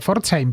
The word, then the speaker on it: Pforzheim: Sería claro, P y F, bueno, los alemanes lo pronuncian bien, como la ciudad de Pforzheim, pero en español sería más difícil, ¿no?